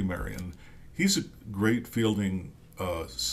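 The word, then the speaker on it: Marion: 202 here's uh I I'm always tempted to call him maid Maran but it's Marty Marian he's a great Fielding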